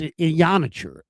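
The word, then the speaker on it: Iheanachor: I saw Matt Mayoka with Field Yates, and he was discussing, Caleb Lomu versus Max Ionacher. And it's Ionacher. That's how it's pronounced.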